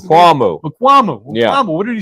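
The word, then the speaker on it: Israel Mukuamu: And what did Makmula or Israel Makmula, is that how you pronounce it? Makwamu.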